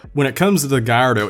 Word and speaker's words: Gallardo: It's Gallardo, just Gallardo, Lamborghini Gallardo. That's it. It's not that hard. There's a few other variations to its pronunciations, but as long as you get the general gist. And again, that's like not really English speaker fault, because written on paper it's 2 L's, and logically speaking you